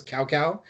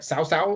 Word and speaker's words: Cao Cao: cao cao cat was we thought it was cow cow but it's pronounced more like sausal it's like a tso you know but you